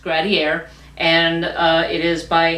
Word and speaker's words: Gradiare: pronunciation guide in the back, but it is pronounced Gradier.